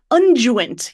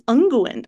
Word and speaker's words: unguent: But somebody said the word unguent yesterday. And I was like, I'm pretty sure it's unguent.